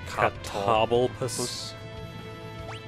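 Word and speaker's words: Catoblepas: Well, I'm trying to see if I can pronounce it like table, but it's like toble? Cobble. So it's like Catoblopus.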